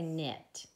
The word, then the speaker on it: knit: we say connect or do we say knit yeah we just say knit like you might knit a sweater so we're gonna color this yellow because it definitely has a silent K so if there's a